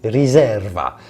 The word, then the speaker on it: riserva: and finally in Italy the word Reserva is pronounced Reserva and there too the term corresponds to an